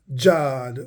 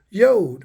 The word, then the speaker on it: Yod: In the King James Version, this Yod was Jod or Jod, J-O-Y. But here's how you pronounce this symbol, Yod, right?